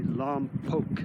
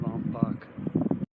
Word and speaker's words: Lompoc: And an even nicer view looking down at, I think it's pronounced actually Lompoc. I keep calling it Lompoc.